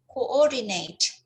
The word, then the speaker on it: coordinate: Right, so 11 here, coordinate. Coordinate. Yeah, and not concept. Yeah, so this one is a pronunciation thing.